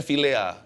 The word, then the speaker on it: philia: Kasih yang Sempurna tapi kasih tilea bacanya Villa tapi ejaannya philia kasih Filia ini adalah